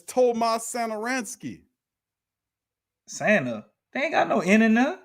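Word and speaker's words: Satoranský: damn signing trade pronoun read that topless thomas starransky isn't it oh damn tomas no you didn't well how you say it then it's tomas santaransky santa ain't got no internet oh my goodness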